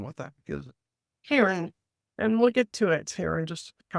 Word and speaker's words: CAIRN: How do you pronounce that and what the heck is it? Karen, and we'll get to it here in just a couple minutes.